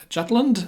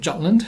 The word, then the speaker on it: Jutland: in the Battle of Jutland I'm going to pronounce it jatlin just because I'm speaking English right now and that's the way that things are English pronounced in English if I'm talking about